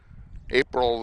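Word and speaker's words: Abril: that did that uh April uh April oh what is her last name Lucio April Lucio okay okay her first name a b r i l oh she pronounces it like the month right I did not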